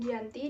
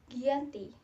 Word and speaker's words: Giyanti: tanggal 13 Februari 1755 nama Giyanti sendiri diambil dari lokasi penandatanganan perjanjian yaitu Desa Janti dalam pelafalan Belanda disebut sebagai Giyanti dan secara tertulis dibaca Gianti tempat tersebut sekarang dikenal